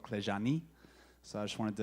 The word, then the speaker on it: CLEJAN: That's the CLEJAN. That's how you say it, just for future reference. But it's Romanian.